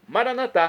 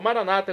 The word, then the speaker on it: maranatá: E agora eu clamo do dialeto de Jesus, o aramaico, maranatá, como dizemos nós católicos, ou maranata, como dizem nossos irmãos separados das comunidades evangélicas ou protestantes. Não importa a pronúncia maranata ou maranatá, o significado é o mesmo, é a parusia, o juízo final.